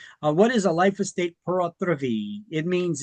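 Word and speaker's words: pur autre vie: I'm like, no, if it was French, it would be P-O-R. This is P-U-R. Yes, it's pronounced the same.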